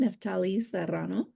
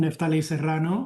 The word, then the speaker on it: Neftali Serrano: Then we have our leader of our organization, Neftali Serrano. I love it when you roll the R and give me the accent on the I. Thank you, Grace. I am Neftali Serrano, or Neftali Serrano, whichever way you will say it.